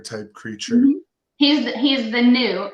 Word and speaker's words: Nue: He's the new. It's a NUE is how you spell it. He's the new.